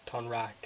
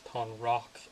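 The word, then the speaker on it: Tonraq: I'm gonna have to watch a couple the episodes to get those pronunciations kind of in my head instead of Tonrak and Unalak. It's Tonrock and Unalak.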